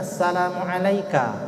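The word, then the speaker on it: assalamu'alaika: itu ada di hadapannya coba ini bacanya asalamualaika langsung pakai dirnya ka ka itu engkau seperti kita berbicara dengan orang di hadapan kita langsung itu ka tuh bukan kum ya kan bukan Assalamualaikum ayyuhan nabi Bukan tapi Assalam ik ayyuhan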